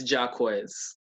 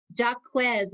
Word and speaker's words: Jaquez: want to butcher it oh it's it's jaquez jacquez oh that's beautiful jacquez